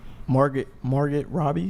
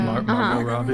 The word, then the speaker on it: Margot Robbie: I tweeted, this conversation came up on Twitter, and I posted a picture of Margaret Robbie. Is that how you say it? Margot Robbie.